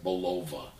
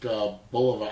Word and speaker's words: Bulova: That's how I pronounce it. I don't say Bulova. It's too close to baloney. I don't know why, but I'll stick with the classic Bulova Accutrons.